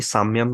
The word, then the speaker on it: संयम: ये वर्ड्स पढ़ा था, सान्यम। हम्म। आई डोंट नो मैं सही प्रोनाउंस कर रहा हूँ नहीं, साम्यम कहते हैं कुछ लोग, कहीं सान्यम हाँ, कहते हैं। हाँ। संयम, अच्छा, संयम संयम।